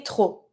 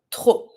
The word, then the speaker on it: trop: Too much, we say trop. Same thing, you don't pronounce the P. Let's reread them one more time. Très, beaucoup, peu, assez, trop.